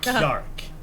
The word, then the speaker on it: Kjark: but his name is Kjark. Kjark. Yeah, Kjark, Scandinavian style, Kjark. If you have a struggle with it, picture like you're saying key, like a key you open a door with, and then ark, as in Noah's Ark.